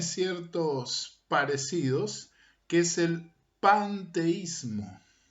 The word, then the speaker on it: panteísmo: Quiero expresar bien esta palabra, paneteísta, para diferenciarla de otra cosmovisión que se pronuncia casi igual y tiene ciertos parecidos, que es el panteísmo.